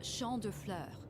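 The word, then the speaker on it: Champs de Fleurs: Champs de floors? Clears. How do you say that? It's Champ de Fleurs.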